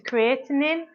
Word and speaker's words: creatinine: Um, however, if you interesting fact, if you leave creatine in water for over an hour, it turns into creatinine. That's how you pronounce it, which isn't the same thing and is a bad thing.